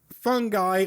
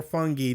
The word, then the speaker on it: Fungi: multiplayer games KP and fungi or fungi depending on your preferred pronunciation what if they what